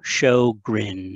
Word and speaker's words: Sjögren: on the slide so show grin is how we pronounce it that is very much the americanized version um so sjogren dr sjogren was a